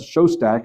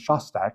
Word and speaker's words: Shostak: I introduced him as Dr. Seth Shostak, and then he says, yes, my name is Shostak.